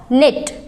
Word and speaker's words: knit: निट।